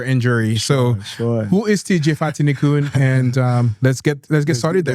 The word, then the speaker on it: Fatini: So the way that I like to start the show is to do a quick introduction of who TJ Fatini. Did I pronounce that right? You did. Fatini.